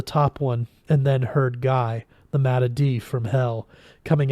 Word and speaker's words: Guy: the chef cried hey Guy what's this he said the mad's name as the the French do so it rhymes with free and then he didn't